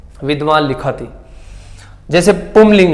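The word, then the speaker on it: पुंलिंग: हमारी आदत है कई ये क्या है कि हमारे हैबिचुअल हो गए हम इसको पुरलिंग बोलने के लिए। कितने लिंग होते हैं, 3 लिंग होते हैं, पुरलिंग, स्त्रीलिंग, स्त्रीलिंग और नपुंसकलिंग। तो इनका शुद्ध उच्चारण क्या होता है, वैसे पुमलिंग होता है, क्योंकि ये म है,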